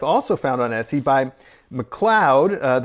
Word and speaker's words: McLeod: So also a replica of him that I've also found on Etsy by McLeod. That's M-C-L-E-O-D. Look, I pronounced it McLeod.